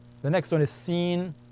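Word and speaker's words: س: the next one is seen s scen s like a hissing sound scen s the same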